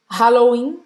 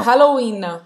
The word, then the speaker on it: Halloween: Halloween, Não. Halloween. Não. Halloween. Halloween. A gente não vai pronunciar esse H.